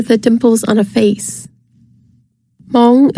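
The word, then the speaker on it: Hmong: dimples on a face Mong is pronounced Mong the word refers to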